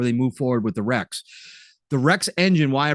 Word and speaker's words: REX: engine called the Rex and yes it is pronounced Rex it's Rex so it is the Rex engine that will